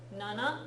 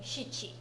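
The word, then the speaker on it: 七: Nana No. is one of the pronunciations for 7. The other being shichi.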